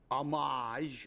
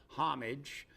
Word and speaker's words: homage: It's homage or homage, depending on whether you're just a regular person and you want to speak English, not pretend you know French.